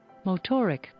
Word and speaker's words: Motorics: those two motoric motoric motoric okay you got it it was the first one it's pronounced motoric anyway so i uh